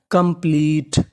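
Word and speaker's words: complete: पी एल E plea और आखिरी में टी ई ई का उच्चारण नहीं करना तो मीनिंग बनी कंप्लीट कंप्लीट कंप्लीट का मतलब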